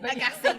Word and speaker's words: Agassi: Agassi, I think. Agassi, that's it.